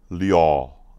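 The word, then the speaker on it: 六: So the number six is this way, and it's pronounced liao, liao. So this is liao, liao. That's six.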